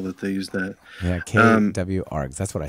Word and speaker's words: kwargs: There was somebody named Nicole Carlson that started this question of, do you say for KWARGS, do you pronounce that keyword arguments or do you pronounce it kwargs?